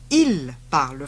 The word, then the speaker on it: ils parlent: If you're talking about more than one person, it still sounds the same. Though it's spelt differently. So, for they speak French, it's ils parlent français.